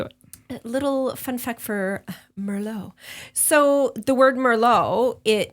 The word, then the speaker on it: Merlot: pronouncing the S Mero we're not pronouncing the T I was going to say is there an s in Mero no no negative um yeah cuz otherwise you would say Merlot okay right like that's